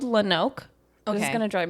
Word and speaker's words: Lonoke: Like lone, one word, oak, another word. Okay. It's pronounced that way, but it's spelled Lonoak, like one word, Lonoke, but they pronounce it Lonoke.